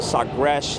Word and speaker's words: Sagres: The Sagres is how you say it in their language.